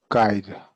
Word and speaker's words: guide: E at the end is silent, remember? You did well, but remember the E is silent.